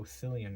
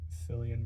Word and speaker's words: Cillian: I thought it was a soft C. I'm like, oh, Cillian Murphy. Cillian Murphy. Cillian. I like that name. And yeah, so I was wrong.